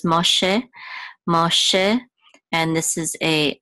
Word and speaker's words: Moshe: going to be science so it's mosh mosh um mosh and then this is a vet um wait hold on no this this is not this is not sound this is going to be pronounced I'm sorry um after a whole limit so this is Moshe Moshe and this is